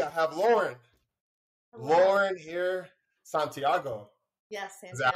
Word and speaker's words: Santiago: with creatives today I have Lauren Lauren here Santiago yes is that how you pronounce it okay because you're from your family